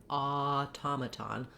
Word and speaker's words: automaton: So I'm not going to be like automaton, automaton. I still can use that ah or that ah, but it's very short. So you could even use a schwa, automaton. Then my ta syllable is stressed. And because it's stressed, it has letter O saying vowel ah, which I've rewritten here for you with letters AH. It also has a true T.